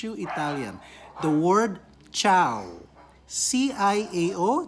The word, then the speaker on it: ciao: italian the word ciao c-i-a-o that's pronounced ciao ciao when you greet